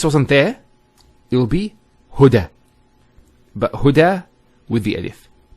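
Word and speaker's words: هدى: It's called an Alif Maqsura, and it's exactly like an Alif, the way it's pronounced. It's like a Ya, without the 2 dots. So we say Huda. There's the elongation as well, because the Fatha followed by an Alif.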